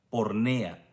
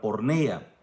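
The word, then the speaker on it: πορνεία: La palabra fornicación viene de una palabra griega, hermano, que parece que se pronuncia porneia.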